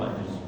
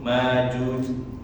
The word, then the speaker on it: Ma'juj: Allah Subhanahu wa taala, sebagian ahli qiraah dan ini termasuk jumhur ya, mayoritas membacanya tanpa hamzah, biduni hamzah. Jadi bacanya dipanjangkan Yajuj, Majuj. Akan tetapi kalau qiraah yang kita pakai biasanya dari riwayat Asim ya, kita bacanya itu Ya'juj wa Ma'juj, ada hamzahnya. Wa kullu ma dzukira fi